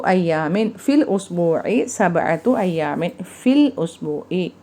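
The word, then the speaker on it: في الأسبوع: ഫിൽ ഉസ്ബൂഇ, അവിടെ ഫീ എന്ന യാഇന് സുക്കൂനാണ്, പിന്നെ ലാമിനും സുക്കൂനാണ്. ഇൽത്തിഖാഉ സാക്കിനിൻ വന്നതുകൊണ്ട് ഉച്ചാരണത്തിൽ ആ യാഇനെ നമ്മൾ കളഞ്ഞു.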